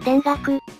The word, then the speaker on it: 田楽: ましたねちなみにこれの読み方をよく聞かれるのですが一応公式発表としては田楽です堕落とか